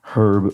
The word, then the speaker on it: herb: And then variety of plants whose name is pronounced differently in the UK than the US, right? Herb versus herb. Um in the UK versus the US.